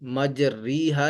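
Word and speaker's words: مجريها: को पढ़ा जाता है तो लिहाजा यहां पर हम इ माला करेंगे और यह मुकम्मल कुराने करीम में सिर्फ एक ही कलमा है बवे पारे में आता है जहां पर पहला रुबा है तो पहले रुब से पहले ही बिस्मिल्ला हि मजरी हा लिखा है तो इसको पढ़ेंगे मजरेहा ठीक है यहां पे मजरी हा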